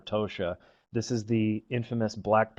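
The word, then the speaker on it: Kaptoxa: that we list there it looks like like cap toxic it's actually pronounced kosia this is the infamous black POS that many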